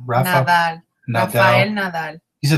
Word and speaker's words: Nadal: Nadal.